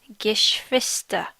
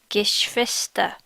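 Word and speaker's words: Geschwister: whether they have siblings the word for siblings or or brothers and sisters is gish vista gish vista yes vista the question for asking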